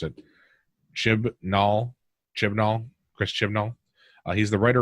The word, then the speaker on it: Chibnall: she says that she's leaving because of Chris chin chin ball I don't know the guys how to pronounce it ship null Chibnall Chris Chibnall he's the writer and producer of